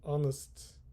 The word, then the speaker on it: honest: a handsome man, an honest man, and honor. Careful, here H is silent, H is silent. Honest, honor.